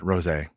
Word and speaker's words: rosé: Yeah, I believe they pronounce it rosé, Jamie.